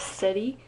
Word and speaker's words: Seti: don't know my cat's name is seti it's spelled s-e-t-i and his full silly name is City the first cat I've